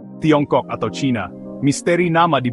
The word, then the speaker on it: Tiongkok: Dalam dialek Hokkien, Tiongkok diucapkan sebagai Tiongkok yang secara harfiah berarti negara tengah.